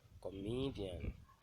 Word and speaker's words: comedian: An example of primary stress on penultimate syllable is the word comedian. Comedian is stress on the penultimate syllable, and the one stress on an example of word stress on the antepenultimate syllable is the word educate.